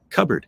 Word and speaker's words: cupboard: good example too because we don't pronounce it anymore cupboard I mean I'm going to look in the cupboard you know even though there's still a pee in there um yeah so